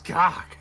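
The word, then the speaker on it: C'AHHK: his name is, well, it's spelled C''AHHK. Of course. What? It's cock.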